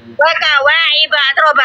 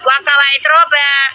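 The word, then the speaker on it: وَكَوَاعِبَ أَتْرَابًا: Waka wa'iba atroba, bukan waka wa'itroba.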